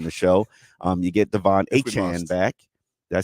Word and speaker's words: Achane: You get Devon Achane back.